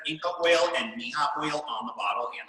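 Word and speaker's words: Mirra: Mija, it looks like it's spelled Mira, M-I-R-R-A. That's how you pronounce it, huh? Mija. Mija.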